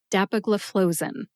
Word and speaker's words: dapagliflozin: Put all 5 syllables together and you get dapagliflozin. Emphasize DAP and FLOE.